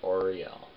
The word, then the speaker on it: Auriel: Auriel. Okay, that's how you say it. Auriel.